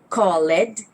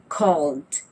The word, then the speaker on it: called: So the word call ends with the letter L. L is a voiced sound, so we use the D sound. We do not say called, instead we say called.